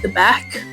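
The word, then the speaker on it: dybbuk: So, it's spelled D YB B U K but pronounced Debec.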